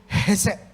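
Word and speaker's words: חסד: Dalam bahasa asli, kebaikan yang dilakukan oleh Daud ini disebut hesed. Hesed, itu harus membacanya seperti itu.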